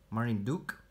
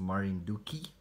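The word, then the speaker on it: Marinduque: This is the Orphanacre species Marinduk, or as some of you told me, it's pronounced Marinduki.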